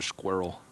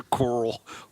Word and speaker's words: Quirrell: Professor Squirrel. I was like, oh, so that's how you say squirrel. Blimey, Professor Quirrell, what are you doing? Professor Quirrell. One syllable.